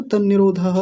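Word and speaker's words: तन्निरोधः: आसान हो गया ना तन निरोधः अभी ये दो न है। आप इसको त्र मत समझ लीजिएगा। कभी आप इसको ऐसे त्र जैसा समझ लें। त्र नहीं है। दो न है। एक न आधा है और एक न पूरा है।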